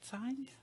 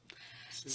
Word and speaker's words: Saenz: I think that's how you say it, Saenz? Saenz. Yeah, Saens.